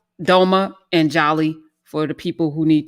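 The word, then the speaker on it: jali: is either j-a-l-i or you see the d which is silent d j a l i if you go back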